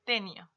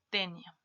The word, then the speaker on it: tenia: tenía y la palabra tenia se dan cuenta que incluso cuando nosotros hablamos de esto lo pronunciamos de manera distinta no en la fuerza de nuestro esfuerzo de voz está en otra parte tenía y tenia hablamos